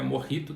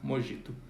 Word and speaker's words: mojito: a o mojito então lembrando que é morri tu tá no emojis para pensar do j é porque a palavra espanhola tá bom a gente pronuncia com um rico e não como mojito o coquetel aí que